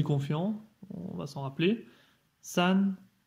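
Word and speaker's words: 三: San, donc premier ton aussi.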